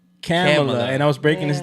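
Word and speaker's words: Kamala: But I didn't know it was pronounced camela. And I was breaking this down to at least and then I had to do a whole lesson about how Trinidadians don't say short a sounds.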